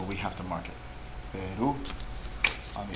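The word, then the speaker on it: Perú: This word, Peru, Peru, you can hear my voice goes up at the end. So ru is the last syllable.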